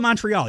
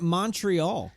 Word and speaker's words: Montreal: but if you want to be fancy and say it like they do there then go the whole way and do the accents don't just not say the te because you sound like